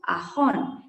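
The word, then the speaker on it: asan: Sanctum Sanctorum is called as Guru Ahon. G-U-R-U, Guru Ahon. A-S-A-N. See, the pronunciation of Ho is very interesting in our language. So we don't pronounce it as Sa, we pronounce it as Ho.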